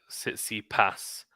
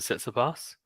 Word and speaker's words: Tsitsipas: it says hi there sit see pass the stress is on the last symbol like Kathmandu kangaroo City Pass rather than sets the bus says he passed like